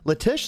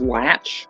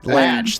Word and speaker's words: Latish: on Happy his name his last name is pronounced latch latch thank you yes I will